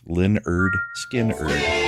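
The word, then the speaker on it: Lynyrd Skynyrd: Pronounced Leonard Skinnerd.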